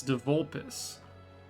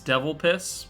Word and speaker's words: de Vulpes: It's de Vulpes. I was pronouncing it as Devil Piss because I thought it was funny.